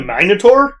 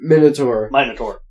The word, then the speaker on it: Minotaur: And Agamemnon is fighting the Minotaur for some reason. Minotaur. Minotaur. Oh, Minotaur. it's a Minotaur, whatever you want to pronounce.